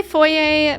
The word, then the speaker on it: foyer: Oh, you pronounce it with the R. You say foyer, but you don't use the word.